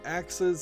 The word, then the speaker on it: axes: Gamma Sutra has a blog called 4 Axes of RPG Design, or Axes, I suppose is how that word is pronounced.